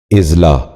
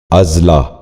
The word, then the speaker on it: اضلاع: بھی غور سے سنیے، اسلوب۔ چوتھا لفظ ہے اضلاع۔ یہ غلط تلفظ ہے، درست تلفظ ہے اضلاع۔ دوبارہ سنیے، اضلاع۔ بچوں آپ بھی غور سے